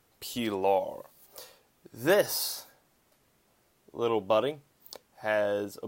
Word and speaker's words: Pilar: about the cricket Pilar looks like pillar it was made by a Denmark e'en a Danish there we go a Dane so we pronounce it P law this little buddy has